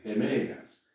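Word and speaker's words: ἡμέρᾳ: Es decir, igual que el vocativo y el nominativo, pero abajo aparece esta iota que se llama iota suscrita. No se pronuncia. Las iotas suscritas no se pronuncian.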